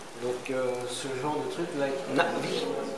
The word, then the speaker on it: Na'vi: Donc ce genre de truc, like Na'vi. Like Na'vi. C'est pas Na'vi comme dans le film, quand Quaritch présente les Na'vi avec deux A. It's not two A. Yep. But it's one.